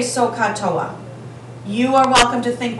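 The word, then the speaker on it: SOHCAHTOA: And we pronounce this so, ka, toa.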